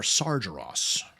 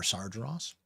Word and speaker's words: Sargeras: Tomb of Sar Sargeras or Sargeras as they pronounce it in this game. I kind of prefer Sargeras.